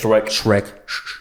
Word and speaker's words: Shrek: Es shrek. Shrek. Letra clave. Sh. Shrek.